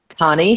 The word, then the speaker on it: Tani: Yeah, we have Tani, how do you say her name? Yeah, Tani.